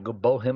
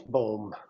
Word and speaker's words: Bohm: And we're back with Adrienne Gruberg and Bohm. Am I pronouncing your last name right? It's Bohm. B-O-H-M. Bohm. 1 syllable.